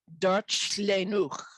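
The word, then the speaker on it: Darllenwch: It's pronounced something like Darchlenwch.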